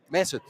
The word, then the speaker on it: Mesut: We have our friend Mesut. Yes. Okay, I pronounced it right. Correct. Yay, Mesut. Mesut.